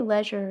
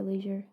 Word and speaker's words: leisure: Do you say leisure or leisure? I say leisure, but I think that both are acceptable. Fun I'm sure reading. The OED would support both pronunciations.